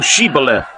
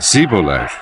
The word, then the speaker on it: Shibboleth: Then said they unto him, "Say now Shibboleth." And he said, "Sibboleth." For he could not frame to pronounce it right.